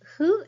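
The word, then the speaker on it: ふ: Hu is not a fricative sound like English F sound. It is more like blowing a candle very gently. Your mouth looks like U shape and say hu. Upper and lower lips don't touch for this hiragana.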